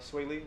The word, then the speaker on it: Swae Lee: So right now in the news right now, Sway Lee, am I saying it right?